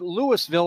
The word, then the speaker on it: Louisville: field here at Lewisville as they do say it Lewisville oh it's spelled like the city in Kentucky fact they even sawell